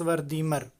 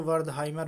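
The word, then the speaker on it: Wertheimer: मनोवैज्ञानिक हैं मैक्स वर्दीमर। इनको WORTHIMER इनकी स्पेलिंग होती है। इनको वर्दहाइमर भी बोलते हैं और इससे आप परिचित रहें, वर्दहाइमर या वर्दीमर जो भी कहा जाए।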